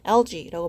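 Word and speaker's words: algae: 어 이게 결국에는 지금 엘가가 이게 미안해요. 쌤도 이제 발음이 틀렸네요. 그렇죠? 예. 헷갈려요. LG라고 발음을 하고요.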